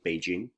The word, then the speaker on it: Beijing: be Jing North Capital Jing is a little bit of a tricky word to pronounce because it has that nasal nasal sound J J is New